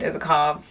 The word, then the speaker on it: Isakov: Like, and then Gregory Alan Isakov. Or Isakov, I'm not really sure. I watched a video today and they pronounce it Isakov, so maybe I've been saying it wrong this whole time.